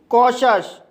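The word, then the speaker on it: cautious: जब किसी वर्ड के अंत में टी के बाद IOUS आए तब टी का उच्चारण शा होता है। जैसे कॉशस, कॉशस शब्द के अंत में टी के बाद IOUS आया है, इसलिए टी का उच्चारण शा होगा, इसलिए इसे कॉशस पढ़ा जाता है।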